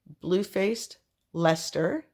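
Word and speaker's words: Bluefaced Leicester: all the people who corrected me on the pronunciation of this word here this Superwash bluefaced Lester is what this is called and I chopped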